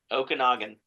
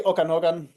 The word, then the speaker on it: Okanagan: Okanagan.